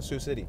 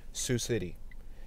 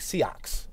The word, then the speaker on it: Sioux City: I did not know how to say Sioux City. To me, it looks like Seox or like Sox. It's spelled S-I-O-U-X.